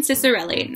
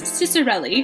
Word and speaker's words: Ciccarelli: Stara by Kristen Ciccarelli I have since learned how to say her last name if you saw the book talk I did on this I had no idea and I butchered the out of it so I have been informed that it is Ciccarelli and yeah I'll leave